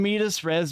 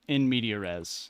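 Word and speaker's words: in medias res: mispronounced word but in medisres might be the funniest goddamn thing I've ever heard how do you pronounce the word it's a in media res like you're in the middle of beat like media I'm gonna keep saying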